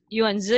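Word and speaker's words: Yuan Ze: Yuanze University ya. Bacanya Yuanze ya, Mbak Novi? Kalau bahasa Yuanze. Inggrisnya Yuanzi University, tapi bahasa Mandarinnya Yuanzi Dashi, ya Oke.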